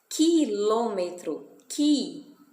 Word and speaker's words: quilômetro: 40, quilômetro, o U fica mudo, né?